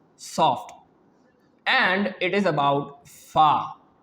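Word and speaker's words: فاء: and it is about fa. Fa, the edge of our teeth will make a connection with our soft lower part of our lower lip. Then the fa will pronounce correctly.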